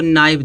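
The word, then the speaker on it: knife: माने गांठ होता है यहां देखो नाइफ दिया एन है तो एन से पहले के आया है तो के क्या हो जाएगा साइलेंट हो जाएगा नाइफ नाइफ माने चाक होता है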